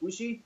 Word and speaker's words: Bushi: Chargrove is doing Jushin Thunder Liger, and Falcon is doing Bushai. Is that how you pronounce it? Bushi?